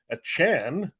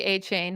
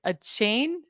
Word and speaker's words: Achane: I know he asked for it not to be Achane, which we all were calling him, but it's Achane? A cane? How do you say it? It's like a Chan, like Jackie Chan.